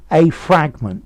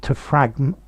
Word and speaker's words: fragment: him so information um a fragment to fragment a fragment to fragment a fragment to fragment so yes different pronunciations are a fragment noun stress on the first to fragment stress on the second part okay so and